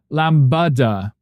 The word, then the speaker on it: lambada: The only thing is the stress on the second syllable of a lamb. Uh, Lambada.